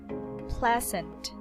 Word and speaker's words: pleasant: practice some words pleasant so the stress is on the first syllable pleasant pleasant pleasant and this is the schwa sound pleasant here again so